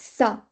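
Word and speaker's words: ça: the the most common example is sa right it's not ca it's sa so we have to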